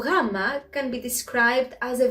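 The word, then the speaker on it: γάμμα: to the letter rama sometimes even weak greeks try to connect it with the letter g but it doesn't produce the sound goo so gamma can be described as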